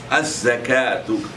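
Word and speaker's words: الزكاة: Az-zakatu. The letter za is pronounced twice.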